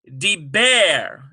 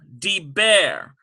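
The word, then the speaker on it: דבר: We have deber. Deber. Well, yes, in this case, dagesh forte. D-E-E-B-B-A-Y-R. Deber. And we've got BB sound, because that doubles that bet.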